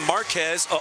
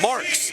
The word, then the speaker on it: Marks: Ryan Marks, by the way, we called him Marquez all of last year. We were wrong. He pronounces his last name Marks instead of Marquez.